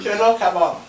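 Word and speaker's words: chelow kebab: The food we're eating, kebab, and how do you pronounce the rice? Ask the Persian. Cello kebab.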